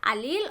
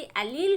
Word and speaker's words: allele: कुछ स्टूडेंट्स इसको मतलब कुछ एक लोगों की प्रोनाउंसिएशन इसकी एलील होती है, कुछ एक इसको एलीली भी बोलते हैं।